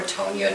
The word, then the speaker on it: Tonia: So it's actually Antonia or Tonia to rhyme with Bologna or Begonia.